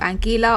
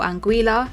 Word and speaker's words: Anguilla: athlete who actually come from the island of angela or anguilla depending on how you pronounce it both these athletes chose to compete